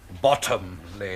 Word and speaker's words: Bottomley: Bottomley, if you don't mind. Oh, pardon, Monsieur. Accent on the bottom.